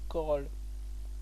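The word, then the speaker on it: Chorrol: corolles ok j -c charolles mais ses corolles on prononce pas de h d'accord oui je viens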